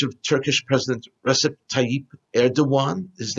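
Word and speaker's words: Erdoğan: hamas media coverage of turkish president recep tayyip erdogan his name is pronounced erdogan spelled erdogan but pronounced erdogan has been sparse because he hosted a meeting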